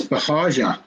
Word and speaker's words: Bahagia: It's Bahagia. It's not a guttural G.